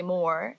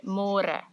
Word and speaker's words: môre: It's a little bit easier, but you have to remember to read môre, because in English it's spelled like more. So don't say more, say môre.